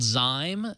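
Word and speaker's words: Zime: It's called Zyme, and it's spelled Z-I-M-E, and it's in beta, so, beta.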